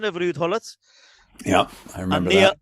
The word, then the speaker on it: Ruud Gullit: Barry was Paul Gascoigne, and Neil said he was Rudd Gullet. So obviously, Mr Van Der Groot corrected him on the pronunciation of Ruud Gullit.